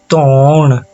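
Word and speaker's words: ਧੌਣ: उच्चारण कीजिए, तौण तौण। हल्की सी हा की आवाज है बीच में, ठीक है।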